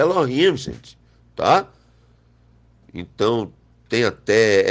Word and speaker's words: Elohim: Repito que o nosso povo não chama nem Elohim, muitas vezes chama Eloquim para não pronunciar, né?